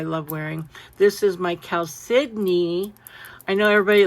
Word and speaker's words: chalcedony: And he goes, chalcedony. And I'm like, what? It doesn't even look like it's spelled at all, right?